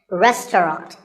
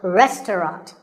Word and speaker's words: restaurant: fancy spelling confuse you the second syllable is just ta and the third is rot so restaurant in british english you might hear just two syllables restaurant that is also correct after you eat at